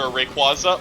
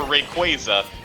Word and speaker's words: Rayquaza: with you I I the official pronunciation is either Rayquaza or Rayquaza and it and official media actually swaps between the two so they are actually both considered legal like uh legal official